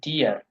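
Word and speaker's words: dir: ডিয়া good উন্ন ডিয়ার ডি আই আর উচ্চারণ হলো ডিয়ার ইর উচ্চারণ কি আমরা আই এর হলো জারন ভাষায় ই আর আসলে একসাথে ই আর ইর ডির না ডি আর বুঝতে পারছেন এটি আপনাদের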